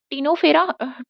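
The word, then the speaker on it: Ctenophora: cold, cold C, एंड यहाँ पे Coelenterata, फिर टू टिनोफेरा, हमारा टी यहाँ पे सी साइलेंट है, फिर पनिश, पनिश में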